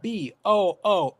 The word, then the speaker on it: Bunni: First of all, his name is spelled Booney. Bunny.